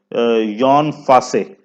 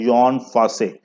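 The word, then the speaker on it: Jon Fosse: अगर हम बात करें तो यॉन फासे, अब ये जॉन फूसे लिखा हुआ है तो हम इसे, लेकिन इसकी ओरिजिनल जो प्रोनाउंसिएशन है वो है यॉन फासे।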